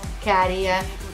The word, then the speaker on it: Käärijä: going like oh let's listen to this carrier by the way practice and pronunciation that's how you pronounce it I speak Spanish um